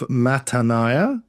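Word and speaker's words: Mattaniah: So there's never an i sound in Hebrew. The i and the a i a will always be separated. Yeah. Okay. Mat. So son of Mataniah, son of Micah, of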